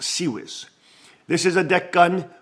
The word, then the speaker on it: CIWS: akin to a cannon called the ciws but pronounced sez this is a deck gun whose fire is